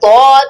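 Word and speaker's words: ض: সদ আর তদ বলার সময় মুখটা ভরে ফেলবে, তদ, ওয়াদ। সদ সবসময় খেয়াল করবে বদ বলার সময় যেন দালের মতো পাতলা উচ্চারণ না হয়, হ্যাঁ, যেন দটা মোটা উচ্চারণ হয়, ঠিক আছে?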